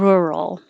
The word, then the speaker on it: rural: is teaching it rural it looks like you are you can think of it as er rural rural roll i'm putting you